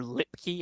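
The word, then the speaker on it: Luepke: A plus guy so it's actually a hunter lipkey I was spelling it wrong saying it wrong I mean Hunter let's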